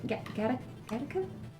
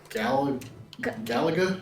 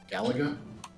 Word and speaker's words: Galaga: That arcade game. Gatica. Is that right? Uh Galaga. Yeah. Yeah. Yeah. That one. Yep. Like, how do you say it? Galaga.